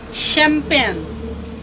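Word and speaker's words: champagne: अब जो शब्द इटली से आया है या यूनान से आया है तो उसमें CH का उच्चारण श, तालव्य श होता है। तो ये सभी शब्द यूनानी या इटालियन भाषा से आए हैं और सबों में CH का उच्चारण तालव्य श होगा, तालव्य श।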